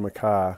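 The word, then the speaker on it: MacKaye: a mile back but benton makai some people say benton mckay but i think he pronounced it benton mackay as his family name but uh he was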